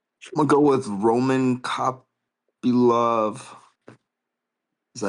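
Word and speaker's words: Kopylov: I'm going go with Roman Cop Love. Is that how you say it? Copy. Love.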